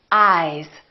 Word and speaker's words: eyes: Ice, eyes. Listen to the difference. Ice, eyes. This S is actually pronounced as a Z sound. This is actually Z, Z. This is voiced, and S, this is voiceless.